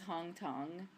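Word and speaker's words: Hong Thong: that we drank was hong tong um it looks like hong kong but it's hong tong and um what was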